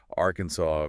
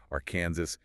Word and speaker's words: Arkansas: who were, you know, totally unfamiliar with the original French or Alangian phonetics and they insisted on sounding that Ez. This tension between the two pronunciations, Arkansas versus our Kansas, it just built up